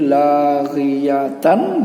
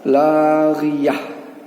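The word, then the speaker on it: لاغية: Jadi laghiyatan dibaca laghiyah.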